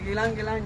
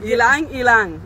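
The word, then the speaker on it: ylang-ylang: And I have Gilang Gilang. You know Gilang Gilang? No. You don't know Gilang Gilang? How do you say it again? No. Wait, say that word again. Ilang Ilang.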